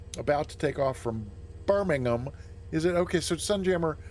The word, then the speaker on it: Birmingham: not Birmingham like like down here in the south in the US we say Birmingham like actually ham is two syllables and I'm guessing in in in Britain Birmingham yes okay so not not even a full just a h it's not even a full syllable at the end it's just a Birmingham okay good so we're